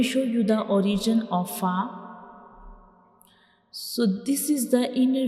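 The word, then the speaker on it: ف: When we pronounce fa, the edges of the upper front teeth will touch the inner side of the lower lip. So this is the origin of fa, and we will read it like fa.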